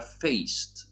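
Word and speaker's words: feest: Impreza jest śmieszne słowo, jest F-E-E-S-T i to się czyta feist, bo zazwyczaj jak jest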